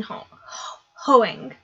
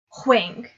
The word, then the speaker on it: Hoang: The Kiss Quotient by Helen Hoang. No. Huang. That's how it's pronounced.